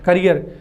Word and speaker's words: carrier: तो ये वाला जो है स्पेलिंग CARRIER, प्रोनाउंसिएशन दोनों का सेम है, करियर। तो जो CARRIER है करियर, ये जो स्पेलिंग है